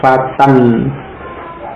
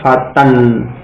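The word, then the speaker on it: فتًى: Alif yang akhir tidak diucapkan, ya, fatan. Ta berharokat fathah kemudian ditanwin, ya. Kemudian dalam penulisan ada alifnya, tadi alif yang lazimah, ya, karena dia huruf asli dari isim tersebut, tidak bisa dihilangkan. Nah, tetapi dalam ucapan itu alifnya tidak dibaca, jadi cukup diucapkan fatan, ya.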